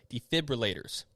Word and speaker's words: defibrillators: gonna get it right defibrillators hey defibrillators because i used to say it wrong a lot right there's no r after the f defibrillators do not start